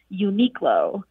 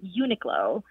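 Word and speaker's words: Uniqlo: US and for years I thought the English pronunciation was Uno and then I overheard a friend who has a very keen ear for pronouncing words and she pronounced it slightly differently with Unico and so I went online and found that that second pronunciation is actually the more correct pronunciation but now when I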